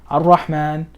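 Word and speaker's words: الرحمن: Al or Ar-Rahman, because this is a sun letter, you don't pronounce the lam.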